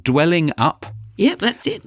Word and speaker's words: Dwellingup: And this place is, and I apologise if I pronounce it wrong, Dwelling Up. Yep, that's it. Dwelling Up, yep.